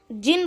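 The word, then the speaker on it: jinn: Pronounce जिन and variously spelled as जिनी, जेनी, जिनी, जिनी, spirit that has strange power and can assume any form, human और animal.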